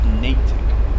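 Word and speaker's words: Natick: ride that's good that's good that's good is pronounced natic okay all right doors are closing breaks release rle up next stop is West natic and while we roll out of here we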